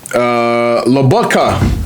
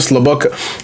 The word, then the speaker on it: Lobotka: Lobotka. I was mixing his name. Stanislav Lobotka. I was putting Slobotka, but him.